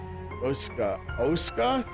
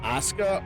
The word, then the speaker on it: Oskha: Oska? Not Asuka? Oska? Shit. Because I've been mispronouncing his name this whole time. He said Oska.